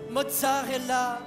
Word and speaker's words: Mozart est là: Mozzarella ? (Uh, pardon me ?) (Mozart est là, meaning « Mozart is here », is pronounced like « Mozarrella ») Mozart isn’t here ?